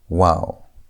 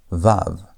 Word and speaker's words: vav: In the older traditions, especially Seemitic linguistic and biblical studies, it's often called wow with a W sound. Though in modern Hebrew today, it's usually called vav with a V sound.